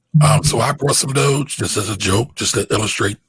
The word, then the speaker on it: Doge: am i saying it right doge that's right doge dogecoin dogecoin doga if you want to invest